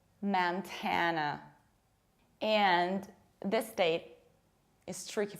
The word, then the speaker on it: Montana: It's not Montana, it's Montana.